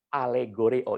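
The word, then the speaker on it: ἀλληγορέω: Alegoreo, ini dalam bahasa Yunani, ini dibacanya seperti ini, alegoreo.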